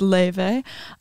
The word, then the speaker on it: Laufey: actually but you know it's two vowels that are just don't exist in English so like in true like clean Icelandic it's pronounced and a and a are just like they don't translate in English so I can't even give you that exactly yeah so like the English version is Levy um but yeah it's